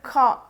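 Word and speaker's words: خاء: ഉള്ളിൽ നിന്ന് ഇങ്ങനെ ഒരു ഒരു പ്രത്യേക സൗണ്ട് ആണ് ഖ ഖ ഇങ്ങനെ എടുക്കണം നമ്മുടെ നഖം മേഘം എന്നൊക്കെ എഴുതുന്ന ഖ അല്ല കുറച്ച് ഡിഫറെൻറ് ആണ് അത് പ്രൊനൗൺസ് ചെയ്യാൻ ഖ അപ്പൊ ഈ ലെറ്ററിന് ഖ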